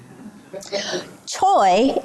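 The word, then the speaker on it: 최: chicken P right Pac Choy is pronounced CH can you say it CH it's not so bad CH yeah King it's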